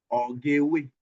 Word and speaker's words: ori: Palm oil is pronounced as ore. Ori. Ori. Ori.